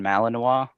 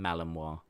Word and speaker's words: Malinois: I've never heard of a Belgian Malinois. Yeah, I didn't either. Because it's kind of spelled like Illinois is spelled, so I thought it was Malinois. Okay. But then people quickly corrected me.